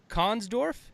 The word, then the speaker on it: Konsdorf: up Joe hey happy Friday and it's Steve Kahn's Dorf am i pronouncing that right yeah hey I nailed it